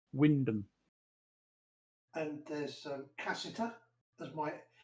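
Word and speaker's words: Wymondham: of my favorites is why mundum oh yes but pronounced windham and there's cassita that's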